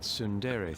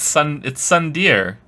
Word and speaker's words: tsundere: Perhaps this is that tsundere thing, where someone is harsh or sweet depending on the mood. Should that be the new sub sound? It's Sundeer. It's Sundeer. He said it wrong.